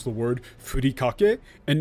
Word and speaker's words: furikake: Not a single one. I even saw a thing where, like, it was like some British dudes, and one of them pronounced it wrong, and the other one corrected them and said, actually it's called, furikake.